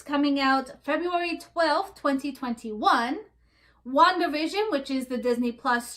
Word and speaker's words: WandaVision: You said Wanda like Wanda/Vision. WandaVision. I thought you said WandaVision like one word. It is one word. It's not Wanda dash, Wanda slash. It's WandaVision.